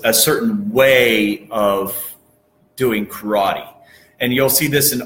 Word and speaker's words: karate: karate okay and that's the proper way of pronouncing is karate is they say karate duh and what that